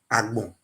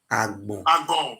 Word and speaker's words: Agbon: Agbon. Okay. So the white men don't know how to pronounce it very well. They call it Agbo.